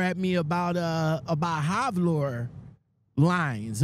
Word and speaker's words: Halvor Line: me about uh about havord lines am I am I pronouncing that right yep halver Hal halver lines you know I you